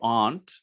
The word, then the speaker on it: aunt: mistakes so for example if they say ants which is a correct pronunciation in american english or aunt which is uh british english but if i say ant then there has to be clarification otherwise it has an impact on comprehensibility if i say uncle